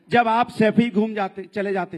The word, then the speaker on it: सैफई: सैफई तो बोलना सीख जाओ, सफाई नहीं है, सैफई है।